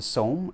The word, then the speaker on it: SOTM: So this component is the SOTM, or pronounced the SOM, S-O-M. I guess the T is silent because it's a Korean company.